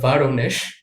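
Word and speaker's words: Воронеж: যেটার উচ্চারণটা হবে ভারনেশ।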